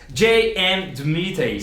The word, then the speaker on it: J.M. DeMatteis: J.M. DeMatteis. Isso, exatamente, assim que pronuncia mesmo.